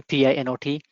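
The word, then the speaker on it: Pinot: think apache pino is it i guess it's pronounced pino is is some kind of um a distributed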